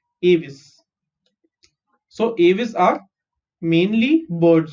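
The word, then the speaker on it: Aves: to avis okay so the first time i pronounced is this word uh i pronounced it as ames right abes aos but it's not ames it's translucent okay avis so avis are mainly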